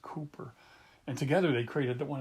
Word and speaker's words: Cowper: But it's spelled Cowper, but it's really pronounced Cooper.